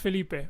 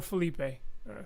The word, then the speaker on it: Felipe: My name's pronounced Felipe, or Felipe.